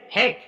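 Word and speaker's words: hack: आगे अगर देखेंगे इसी तरह से हेक एच ए एच ए सी के। देखो सी के तुरंत बाद के आया। तो अब सी का प्रोनाउंसिएशन नहीं होगा। तो इसको क्या पढ़ोगे? हेक।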